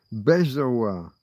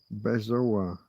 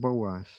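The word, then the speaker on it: bezoar: Bezo. B E Z O A R. Bezo. What did I say? I said Boaz.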